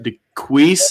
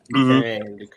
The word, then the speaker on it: Duquesne: DeQueese, is that correct? Duquesne. Yeah. Duquesne. Oh, yeah, it's definitely Duquesne.